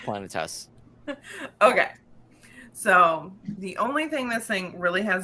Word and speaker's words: Planetes: say this is it Planet Tess is it planets in it is it Planet s is it it's it's pronounced planetes okay so the only